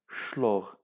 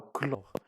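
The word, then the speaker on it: chlore: دونك اون فرونسي ما كنقراوش شلوغ، كنقراو كلوغ. دونك شنو كيتنطق؟ كيتنطق سائل كلوغ كلوغ. سي بور سولا عطينا لو نون، لو سامبول ديالو هو السائل. السائل جايه من لو كلوغ اي سي با شلوغ.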